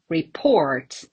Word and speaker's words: report: your guess um so probably you are thinking of uh like different stress patterns but no it's reports and again report both verb and noun with the same pronunciation and the same stress pattern for example the reporter